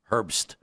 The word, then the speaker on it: Herbst: It's Herb with an S on the end. Herbst.